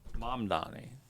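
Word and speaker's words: Mamdani: Mom Donnie. So, it's like Say it again. Zoron. Almost like the movie. I think I say the whole name. Mom Donnie.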